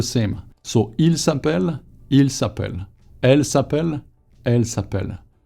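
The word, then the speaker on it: s'appellent: Now, the verb is going to be s'appelle. Double L, ENT at the end, but you don't pronounce the ENT.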